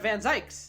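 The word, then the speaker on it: van Zieks: the reaper has been attacked that's that's Lloyd van zykes that's how you say his name that must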